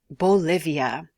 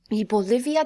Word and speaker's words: Bolivia: access to the ocean it starts with a b and rhymes with Olivia Bolivia Bolivia tiene dos capitales so